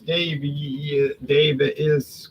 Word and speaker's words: Daviess: Okay, here's Daviess County. I guess it's pronounced Davies, but it looks like Daviess.